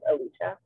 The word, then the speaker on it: Alicia: to say this because a few people said my name wrong that my name is Alicia um also yeah so